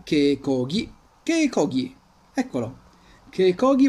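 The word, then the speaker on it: keikogi: i tir con ippon quindi che chi diventa che cochi che cochi eccolo che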